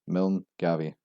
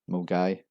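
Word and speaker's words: Milngavie: confused at the pronunciation, spelling it out with sounds as Milne Gavie. This is actually pronounced as Milgai, silent N, silent Va.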